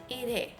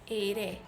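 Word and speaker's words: 일해: And the second one, I work, ir plus he, ire, ire. You can hear, I hope that you can hear, the he is not fully pronounced, it's simply ire.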